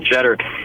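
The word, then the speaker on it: Tschetter: When you look at the way his name is spelled, T-S-C-H-E-T-T-E-R, that name, if you don't know it, could get you thrown out of radio. That's a bunch of silence in there, that's for sure, man.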